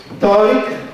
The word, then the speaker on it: Tariq: He's given me the assurance that it's Tariq and not the other pronunciations as we have. We have various forms of expressing Tariq and Tariq. So he's quite satisfied that it's simple Tariq.